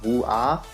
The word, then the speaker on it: woo!ah!: I think it's Woo-ah, because that's just the way I mean, it's literally Woo and then Ah.